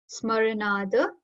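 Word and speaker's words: स्मरणात्: Smaranad Smaranad. Very less pressure on the starting S over here. Smaranad.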